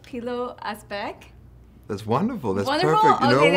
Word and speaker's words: Pilou Asbæk: with your name it's really cool am i pronouncing it right P little a speck there's wonderful that I know what everyone said